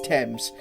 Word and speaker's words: Thames: Pronounced Thames, not Thames. Alright, Thames. It's Thames.